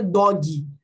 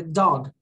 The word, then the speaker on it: dog: Então, cachorro não é dog. É dog. Ok? Ah, mas, gente, eu não quase eu falei o G. Mas ele tá ali. Não é porque você não falou ele com toda a força que ele não tá ali.